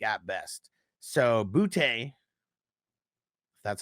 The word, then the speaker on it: Boutte: So Boutte, that's how you pronounce his last name.